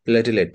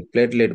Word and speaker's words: প্লেটলেট: আরেকটা হচ্ছে অনুচক্রিকা মানে প্লাটিলেট যেটাকে প্লেটলেট বলা হয় বা প্লাটিলেটও বলা হয় সঠিক উচ্চারণটা প্লেটলেট যে আমাদের দেশের ডাক্তাররা গুলোকে প্লাটিলেট বলা হয় বলে আমি একবার এই